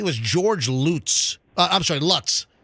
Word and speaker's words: Lutz: George Lutz I'm sorry Lutz I'm saying I'm pronouncing it like uh like where Fester lives uh but it was